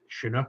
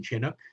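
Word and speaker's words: chinook: shinuk um and it's shinuk rather than chinuk some people even though it's spelled with a CH it's not chin uh they're scientific name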